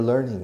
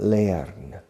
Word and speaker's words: learning: learn notice the pronunciation notice the pronunciation learn in British English learn it's the pronunciation is not layering it's learning Peter turn the pronunciation is the same burn turn learn okay I'm teaching you're